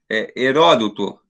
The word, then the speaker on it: Heródoto: correta e a segunda a gente vai melhorar o a pronúncia heródoto não tem problemas quando